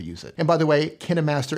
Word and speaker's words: KineMaster: By the way Kih-neh-master is the proper way to say, It it is not Kayn-master, so contrary to popular belief, KineMaster.